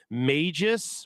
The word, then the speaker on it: Magus: cool Magis was and yes that's how I'm going to pronounce it for the remainder of the stream go ahead and at me I'm not calling him Magus I don't care what you say it's Magis because they're magicians not magicians um or frog